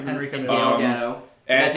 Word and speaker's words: Gal Gadot: Gal Gadot. That's how you pronounce it.